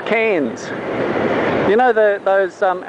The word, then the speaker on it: Cairns: is not pronounced cairns remember we don't pronounce our r's we don't like ours